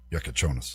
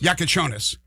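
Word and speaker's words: Jakučionis: Kelwini Hakez, uh, Casperis Yakon, Yakashanis, how do you pronounce it? Yakonis. Yakonis.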